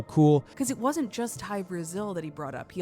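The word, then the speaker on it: Hy-Brasil: people might be asking what's high brazil no it's not brazil the country this is something different it's spelled hy hyphen b-r-a-s-i-l and what this is what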